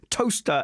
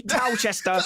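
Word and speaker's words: Towcester: Chris you're about to defend toaster as well which is clearly tow Chester clearly wrong I was gonna say near Silverstone where Silverstone is that is clearly Tao Chester not toast and I won't have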